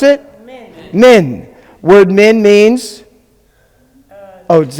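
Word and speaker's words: מן: How do you pronounce it? Min.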